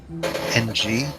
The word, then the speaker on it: Ng: way in case you're wondering the way to pronounce and G is hmm ng now it's win now the the name and